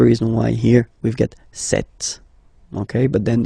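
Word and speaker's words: cette: sir or then set feminine set so you can notice that fanatically these two are pronounced the same way okay set here and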